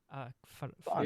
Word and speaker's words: Vahn: Vahn. There's an H in there. So I Vahn. just We all say considered it Vahn. We don't say Van.